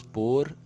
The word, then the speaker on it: pôr: Vamos pôr aqui. Exemplo aqui, ó. Vou pôr o livro na estante que foi feita por mim. Vejam que a pronúncia é exatamente igual, mas são palavras completamente diferentes.